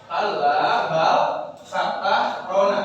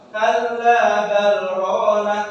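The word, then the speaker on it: كَلَّا بَلْ رَانَ: Kalla bal rona. Maka bagaimana cara bacanya? Yakni berhenti sejenak tanpa mengambil nafas. Tidak begini kawan-kawan. Kalla bal rona.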